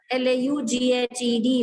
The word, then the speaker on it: laughed: जो verb का last sound f होता है, when ed is added to it, again this ed is pronounced as t. L-A-U-G-H-E-D.